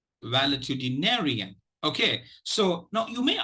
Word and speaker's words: valetudinarian: without any color coding the secondary stress is uh is lies on the first syllable well okay now let me pronounce it once or twice so that it becomes clear to you uh wellitudinarian wellitudinarian wellitudinarian okay so